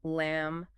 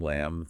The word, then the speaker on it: lamb: Well, for instance, you'll notice that M at the end of a word, like in comb, lamb, thumb, almost always has a silent B, right? Comb, lamb, thumb.